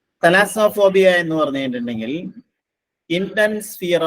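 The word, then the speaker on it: thalassophobia: ഓ പി എച്ച് ഓ ബി ഐ എ ഇതിന്റെ ഉച്ചാരണം ശ്രദ്ധിക്കുക തലാസോഫോബിയ തലാസോഫോബിയ എന്ന് പറഞ്ഞു കഴിഞ്ഞിട്ടുണ്ടെങ്കിൽ intense sphere of large or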